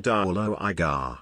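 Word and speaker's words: duilleoga: It is pronounced by saying duolo igar.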